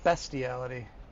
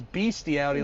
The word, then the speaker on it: bestiality: Bestiality. Yeah, I think I thought it was beastiality like that.